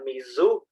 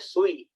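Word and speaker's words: 水: Contohnya, kanji air. Ada yang membaca Mizu, ada yang baca Sui. Nah, beda-beda kan?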